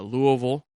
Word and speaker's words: Louisville: can go to uh Louisville that's what they that's what the locals say it uh University or you